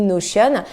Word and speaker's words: Notion: Alors Notion ou Notion, selon comment on le prononce, moi je dis Notion.